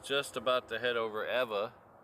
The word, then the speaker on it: Ewa: hear me pronounce it Eva in Hawaiian most of the time the W has a v sound like so name Kika